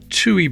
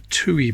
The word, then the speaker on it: Tui: what's that called um chewy Bird that's right a Tui bird I think that's how you pronounce it two t-u-i that's nice condition 1958